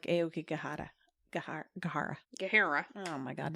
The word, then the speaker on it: Aokigahara: think the authentic pronunciation is like Aokigahara, but I cannot do it like that.